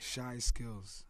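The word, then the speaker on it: Chyskillz: The producer of the first album, how the fuck do you pronounce his name? Shaw Skills. Thank you. Shy skills.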